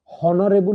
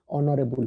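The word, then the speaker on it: honorable: ऑनरेबल minister N हम कारण pronunciation और आसुची एटा को सब बेले मन रखिबो हॉनरेबल हुएनी ऑनरेबल हुए 15 नंबर गांधीजी डैश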